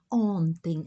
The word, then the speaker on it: ontem: pais são padres ontem a pronúncia né ontem a nasalização o m o n e e